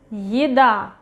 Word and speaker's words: еда: Еда, еда, еда. Again, ye is not stressed. At the beginning of a word, еда.